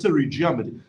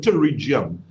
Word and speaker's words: pterygium: That's something called pterygium. It looks like a piece of flesh. Yeah. Yeah, that's something they call it pterygium. It actually spelled with a P.